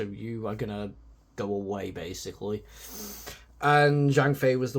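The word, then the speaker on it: Wei: game and the story they are called away not a it's not spelled ways in w a y it's spelled w e i and yeah it's pretty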